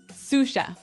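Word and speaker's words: sous: to our second word suf suf suf suf s o u s so the S is silent because it's like a French word yeah something like that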